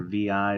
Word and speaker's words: vi: It's either VI, it's pronounced VI, or VIM.